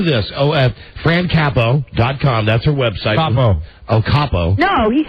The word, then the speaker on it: Capo: No, Capo. Capo like head of the mob.